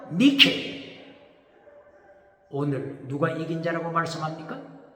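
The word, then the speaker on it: νίκη: 영어로 나이키. 그리스말로 니케.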